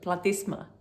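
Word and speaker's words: platysma: Whether it's here or here, it makes the platisma muscle very unhappy. I once again pronounce it the Latin way, but platisma is maybe how um Americans would say it.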